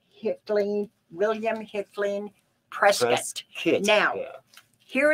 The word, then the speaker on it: Hickling: out oh yeah so it is absolutely pronounced hitling william hicklin president now